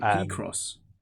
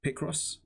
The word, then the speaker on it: Picross: Did you just call it P-Cross? Is there a different way to pronounce it? Picross? Picross? Okay.